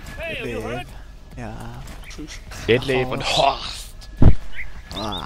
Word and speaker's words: Detlev: Mit weich ausgesprochenen E. Detlev.